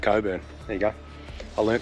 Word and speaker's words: Cockburn: sam just told me it's spelt cockburn range but it's pronounced coburn there you go i